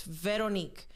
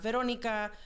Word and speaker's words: Veronique: Like again, I know I'm slightly more forward about it, but please say my name correctly. It's Veronique. Not Veronica, not Veronique, Veroniqua.